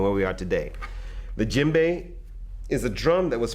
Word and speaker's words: djembe: Now the djembe is spelled D-J-E-M-B-E.